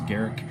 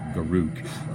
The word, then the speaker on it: Garruk: Yeah, that's right, I pronounce it Garruk, not Garuk, because I think Garruk sounds like a proper name, just like the guy from Star Trek, right?